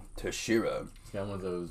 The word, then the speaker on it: Teixeira: Yeah, he's fighting Glover Teixeira.